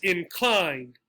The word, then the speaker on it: inclined: Now the trick for this one, this is an adjective. Usually 2-syllable adjectives get stressed on the first syllable, such as pretty, pretty, pretty. However, there are exceptions, and this is one. Another exception, concise, concise. So while we have pretty, pretty, this is inclined, concise.